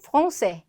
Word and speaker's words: français: 끝에 있는 s는 어차피 발음이 되지 않는다. 그래서 말할 때는 신경 쓸 필요도 없다. 근데 스펠링 쓸 때만 주의하자. 자, 여기서 한번 볼게요. Ils sont français.